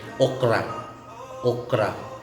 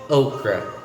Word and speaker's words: okra: difference in the pronunciation because as a dialect here in the philippines you say okra it's like heart and the constant sounds are really defined but as an english word you say okra okra okra otherwise known as